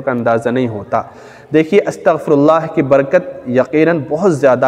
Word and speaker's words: استغفر اللہ: کر بتا رہا ہوں، استغفر اللہ، الف اس کے بعد سین، پھر تا، پھر غین، اس کے بعد فا، پھر را، اس کے بعد یہ الف لام ہا، استغفر اللہ، یہ صحیح تلفظ ہے۔ تو ہم استغفر اللہ